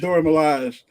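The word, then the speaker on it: Dora Milaje: the door how you say it dora melania dora milaj firstly now and then they realized we could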